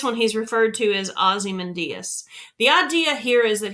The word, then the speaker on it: Ozymandias: It's pronounced Ozymandias.